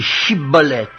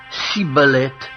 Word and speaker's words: Shibboleth: Il lui disait alors « Eh bien, dis Shibboleth ». Et il disait « Sibboleth », car il ne pouvait pas bien prononcer, sur quoi les hommes